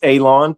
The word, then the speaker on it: Alon: My name is Alon, pronounced like you're going to cut grass, like you're going to cut a lawn. It's not spelt that way, but it is pronounced that way.